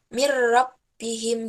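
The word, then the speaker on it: مِن رَّبِّهِمْ: terus adalah gitu dibawahnya Min rabbihim dibacanya mirrobbihim jika jadi tidak ada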